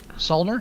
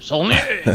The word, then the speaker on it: Saulnier: Solner? I think it's Solner. Okay. I always go for the French pronunciation. Saulnier.